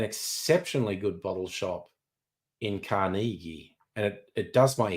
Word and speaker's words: Carnegie: specials are you criticizing my pronunciation of carnegi that's how locals say it Cari depends where you